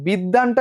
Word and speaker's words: বিদ্বান: আচ্ছা, বিদ্বানটা একটু উচ্চারণ করো তো, এর মধ্যে কি ব উচ্চারিত হয়েছে? বিদ্বান, কোনোভাবে কি ব আছে? না, ব নাই।